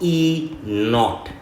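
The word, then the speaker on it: E°: is this this is called This is called E not okay e not it's called an e not that's how we we pronounce this so it's actually written like this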